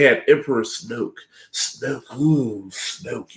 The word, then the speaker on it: Snoke: emperor snook snow cool snoke you heard his name it's it rhymes with smoke and it's like you